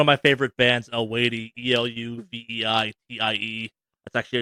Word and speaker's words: Eluveitie: One of my favorite bands, Eluveitie, Eluveitie. That's actually how you pronounce it.